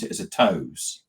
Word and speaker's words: TOWS: I'm assuming you pronounce it as a TOWS.